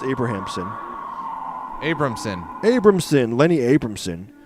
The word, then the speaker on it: Abrahamson: directed by Lenny Abramson abrahamson how would you pronounce abrahamson Abramson Abramson Lenny Abramson it's directed by Lenny Abramson